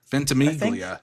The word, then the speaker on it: Ventimiglia: Oh my God, I can never pronounce his Ventimiglia? Ventimiglia.